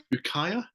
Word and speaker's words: Ukiah: Right, anyway, seeing as you segued in for me beautifully 20 minutes ago, my number 3 is, how do we pronounce this? Ukiah?